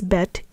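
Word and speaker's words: בְּ: But when in a context where it means in the, by, or by the, we pronounce it as ba.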